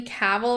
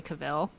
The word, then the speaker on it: Cavill: I always said Cavill, but like Like Cruella de Vil. Henry Cavill, KA-VL.